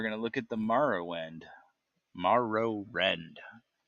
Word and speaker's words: Morrowind: marrow, Morrowind, It but yeah. is Morrowind, not Morrowind. No, Morrow. Marrow. I think you can pronounce it either way.